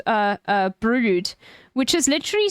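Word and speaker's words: Brewood: I went to a place called uh uh brood which is literally spelled briwood which is insane like b r e e w o o d and it's pronounced brood like so like I had family that lived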